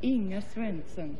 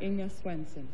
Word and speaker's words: Inga Swenson: Well, if you want to be authentic, it's pronounced Inga Swenson. Inga Swenson. From Omaha, Nebraska. From Omaha, Nebraska. But you can say Inga Swenson.